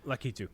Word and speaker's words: Lakitu: one with uh uh how do you say lakitu lakatu yup lucky too lucky too okay so tell us